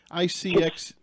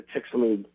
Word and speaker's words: Chicxulub: The chicks, I can't even pronounce it. Cicix. That guy. Chicxulub.